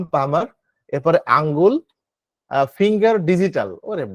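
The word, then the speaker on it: palmar: হাতের তালু, হাতের তালু পাম পামার, হাতের তালু হচ্ছে পাম পামার, এখানে এল এর উচ্চারণ উজ্জ্ব থাকবে, হ্যাঁ, পাম পামার।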